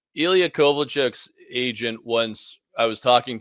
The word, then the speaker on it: Kovalchuk: Like Ilya Kovalchuk's agent once, I was talking to him and he called him Kovalchuk, and it was like, have I been saying it wrong for like a decade?